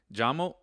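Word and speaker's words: llamo: Now jamo, uh, it's spelled with two L's. So I know you're like, uh, why is it two L's? When in reality it sounds like a J.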